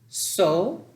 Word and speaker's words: sol: So, the L is silent.